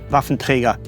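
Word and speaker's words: Waffenträger: very odd to me I should say rafentrega that's the only way how to pronounce it enough of surviven trigger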